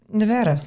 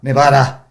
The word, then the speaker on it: Nevada: So Nevada is obviously a Spanish word. You don't have to say it like that, though. I know. It's just Nevada.